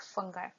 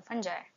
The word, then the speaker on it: fungi: we will see about fungi or fungi both the pronunciations are correct okay so here is